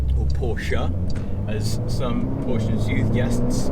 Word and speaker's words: Porsche: one of the things that I like about porch or Porsche as some portions youth guests all it it's